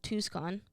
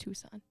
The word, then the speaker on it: Tucson: and most were in Tuscon Tucson yeah Tucson you really pronounce that c in there it's just Tucson that's so dumb I